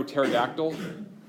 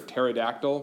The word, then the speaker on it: pterodactyl: from Greek and the in Greek it would be a silent P so would be terx or terce or pterodactyl what does it what